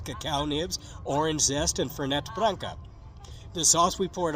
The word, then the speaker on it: Fernet: It had some sugar, yeah, but it also had ricotta, cacao nibs, orange zest, and Fernet Branca.